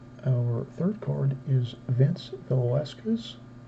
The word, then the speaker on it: Velasquez: Our third card is Vince Velasquez. I always mispronounce that. The S throws me off after the Vela and before the Kez.